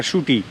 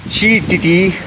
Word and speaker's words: Shetty: Shetty. Shetty? Shetty. No. B.R. Shetty. Depends how you pronounce it.